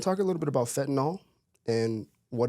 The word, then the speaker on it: fentanyl: a nil I think it's actually how it's pronounced fentanyl yep I always say fet it's Fenton and